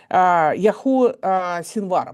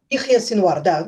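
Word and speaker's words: Яхья Синвар: резню 7 октября 2023 года на юге Израиля, Яху Синвара. Правильно я произношу его имя? Ихья Синвар, да.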